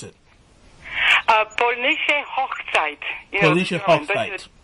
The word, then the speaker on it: Polnische Hochzeit: But how do you pronounce it? Polnische Hochzeit.